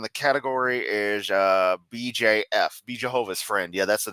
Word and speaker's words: Jehovah: It's library videos, English, and the category is BJF, Be Jehovah's Friend. Yeah, that's the name of the series, actually. Excuse me, I gotta say it right. Jehovah, because the mom says it like that.